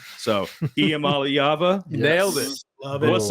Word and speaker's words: Iamaleava: And even the announcers on TV, they can't pronounce his last name right. So, Iamaleava, Nailed it.